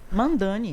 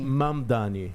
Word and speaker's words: Mamdani: Os americanos falam Zoran, mandani. Mamdani não tem N. É M, né?